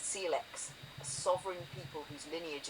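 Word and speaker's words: Syilx: Peachland in the summer, there were the Seilks, pronounced Seellex, a sovereign people whose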